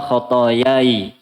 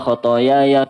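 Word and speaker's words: خطاياي: Kalau mau sukun, kalau mau waqaf, bacanya Allahumma ba'id baini wa baina khatayai. Kama ba'atta bainal masyriqi wal maghrib. Kalau mau khatayaya berarti harus nyambung. Wasol berarti jangan waqaf.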